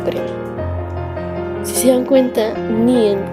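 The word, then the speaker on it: 니은: Se pronuncia como una N en el español.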